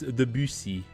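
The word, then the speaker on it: Debussy: the the French pronunciation doesn't sound at all like that, but you know, when speaking it in English mode, it's hard not to say it like that. It's debusi in French.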